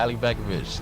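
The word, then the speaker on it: Alibegović: Ali Begovic. I said it right? Yeah, Ali Begovic.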